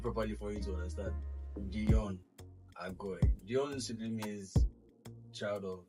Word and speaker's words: Deyon Agoi: Let me pronounce it properly for you to understand. DEYON AGOI.